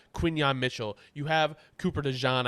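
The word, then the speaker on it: DeJean: Mitchell you have Cooper dejan I guess it's pronounced not dein I've been saying it wrong for months um yeah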